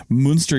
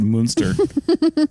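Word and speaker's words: Münster: have to pronounce it moonster I think that is how you you're supposed to pronounce it so I know with like a little more emphasis on the moo but anyway got it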